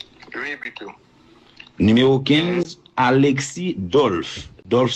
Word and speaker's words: Dolph: Numéro 15, Alexis Dolph. Dolph s'écrit D-O-L-P-H.